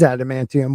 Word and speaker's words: adamantium: Um, they got the ab ab abmantinum from yeah, that's not how you spell it. Um, The from adamantium. Galactus. Oh, It is adamantium.